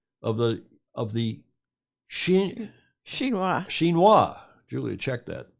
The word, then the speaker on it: Xinhua: believe everything i read in wikipedia told you xinhua's a ministry level institution okay enough of all